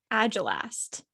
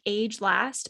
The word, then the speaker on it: agelast: can pronounce this right agile asked agile i believe is how you it looks like age last but i believe it's agile asked and so a-g-e-l-a-s-t and